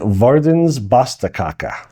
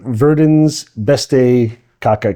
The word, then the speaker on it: Verdens Beste Kake: Um, it's called it's pronounced and I verified with the woman who worked there, the Verdens Basta Kaka. So, it looks like Verdan's best kaka.